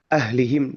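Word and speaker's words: أهلهم: Kemudian mungkin yang coba kita coba pertegas bahwa ahlihim huruf H ini itu adalah huruf H gede gitu kan ya. Huruf H nu ageng gitu. pengucapannya adalah tenggorokan bagian dalam.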